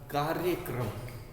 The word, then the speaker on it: कार्यक्रम: इसका उच्चारण पे ध्यान दीजिएगा। कार्यक्रम, सबसे पहले हमने का उच्चारण किया, फिर ऊपर के र का, कार्य, और इसमें इस र का उच्चारण बाद में किया जा रहा है।